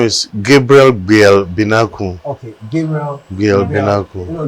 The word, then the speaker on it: Gabriel Gbel Benarkuu: So, how is the name pronounced? Yeah, the name is Gabriel Gbel Benarkuu.